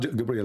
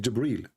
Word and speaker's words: Jibreel: It's not Gabriel, by the way, it's Jibreel. Even Muhammad, he got the name wrong.